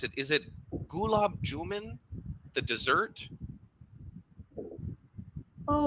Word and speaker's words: gulab jamun: It's not gulab jamun. It's gulab jamun. Gulab jamun. Okay, there we go. Now I've been Gulab mispronouncing it for too jamun. long. Gulab jamun, not man. It's gulab jamun. Gulab jamun. Un, u, Un. gulab jamun. Like the moon that's in the sky.